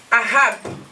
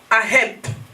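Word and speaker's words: אהב: If we look at in the Hebrew language, hallelujah, Soki toke na hébreu, there's a word that is pronounced as ahab or aheb.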